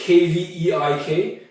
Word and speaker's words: kveik: I first saw it, I said Kveik, because it's K-V-E-I-K, but upon searching it a little bit more on the internet, I guess it's pronounced Kveik.